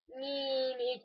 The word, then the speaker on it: Mimi: Yeah, it's how it's actually pronounced. It's a Mimi.